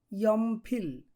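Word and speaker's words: 연필: তারপর যেটি আছে সেটি হলো ইয়মফিল। উচ্চারণ হবে ইয়মফিল। কোরিয়ানরা উচ্চারণ করে ইয়মফিল।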